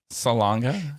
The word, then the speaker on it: Salonga: Salonga. Salonga. Is that how you pronounce it?